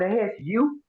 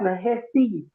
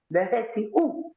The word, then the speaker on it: Nehesi: That's not Nehesu. That's Nehesi. Nehesi. Like you say, Kimiti.